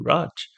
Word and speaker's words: Raj: Um, it's a really good way for me to explain to people how to say my name sometimes. I'm like, oh, like that guy from Big Bang.